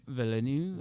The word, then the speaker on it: Villeneuve: Villeneuve. I thought it was Villeneuve.